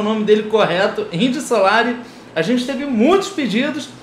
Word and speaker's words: Indio Solari: a reação do Indy Solari, e dessa vez pronunciando o nome dele correto, Indy Solari, a gente teve muitos pedidos, então a gente